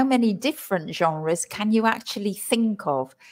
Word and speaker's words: genre: from French and so we try as English people to pronounce it in a French way and the pronunciation isre